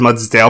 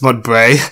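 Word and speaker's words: Mudbray: muds Bray mud Bray I almost said muds Dale but it's mud Bray and we have dart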